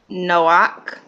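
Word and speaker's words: נֹחַ: If the ket is at the end of a word and has the minus vowel, it makes the ak sound and not its normal ka. All right. Let's go on down. Read the following line aloud. Read the following line aloud. Come on, TT Noy. Let's get it. Okay. Okay. Here we go. That would be Noach.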